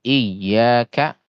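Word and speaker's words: إياك: Contohnya misalkan iyaka na'budu. Iyaka itu kan ditekan ya. Iyaka. Apabila tidak ditekan, misalkan iyaka seolah-olah i-nya yang panjang, ya cuman satu harakat. Iyaka. Padahal kan harusnya ditekan iyaka.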